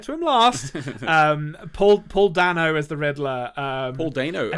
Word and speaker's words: Dano: they know if you're if you want to pronounce it incorrectly as anthony does sometimes the day no man he he's just